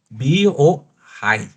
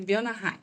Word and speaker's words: Bionahai: da capital, Biohai. Acertei? Isso. Quase. Então, nos ajude com a pronúncia correta do nome alemão. Pronto, Bionahai. Bionahai. Bionahai.